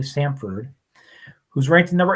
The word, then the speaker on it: Samford: Pronounce that correctly. Samford, who's ranked number 8 or the 6th seed in the tournament.